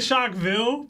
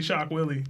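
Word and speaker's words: Shock Wille: I've been saying Shockville, but it's definitely Shock Willie.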